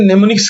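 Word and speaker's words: mnemonics: किया जाता है उसे nimnics कहा जाता है और लिखा जाता है एम nimnics इसके अंदर एम साइलेंट है तो इनको कहा जाता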